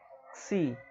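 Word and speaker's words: ξ: Seria a ideia do C, é como se você juntasse a letra C e a letra S para chegar a essa pronúncia aqui. Xi, xi, como em táxi, tá?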